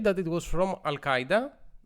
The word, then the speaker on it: Al-Qaeda: that it was from Al-Qaeda or if you want to say it correctly Al-Qaeda was that correct yes